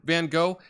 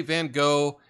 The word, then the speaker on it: Van Gogh: But yeah, it's been returned, Van Gogh. And by the way, we're speaking English. We just say Van Gogh, and a lot of people in Europe, they say Van Gogh.